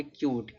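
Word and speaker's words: cute: देखो दिया है कि जब किसी वर्ड में यू के बाद एक कंसोनेंट हो और लास्ट में इ आए है तो यू का उच्चारण बड़ा उ होता है या तो यू होता है।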